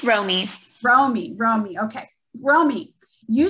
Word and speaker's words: Romy: pronouncing this correct where's ramy where's mommy on my screen here we go ronnie am i pronouncing that right romy it's romy romy romy okay romy